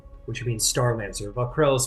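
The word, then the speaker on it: Vah'k'rel: Vakrel.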